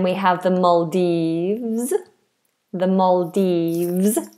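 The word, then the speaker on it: Maldives: The Maldes. Make sure that V is vibrated.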